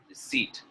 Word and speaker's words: receipt: Yes, the correct answer is first one, receipt. Receipt is the correct one.